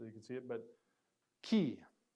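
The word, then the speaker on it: Chi: can see it but key key not Kai this is key and this is actually a fairly similar to our in English CH but it's not a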